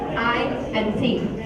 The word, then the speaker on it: IT: Information technology is the short form, IT is the short form for information technology and it's pronounced as two separate letters, I and T.